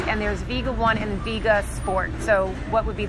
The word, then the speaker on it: Vega: Vega one brand and there's Vega one and Vega sport so what would be the difference yes so um it's actually pronounced Vega oh know um so the difference